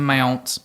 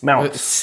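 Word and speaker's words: Mounce: last name John Mound mounts it's m o u n c e oh Mount oh like a like you pounce on a mount is that like almond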